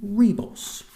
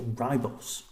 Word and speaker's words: Ribos: Rebos, or Ribos, depending on which bit of the episode you're watching and how people pronounce it.